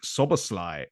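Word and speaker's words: Szoboszlai: And Dominic Soboslai from RB Leipzig. That is how you pronounce his name, according to my Hungarian girlfriend.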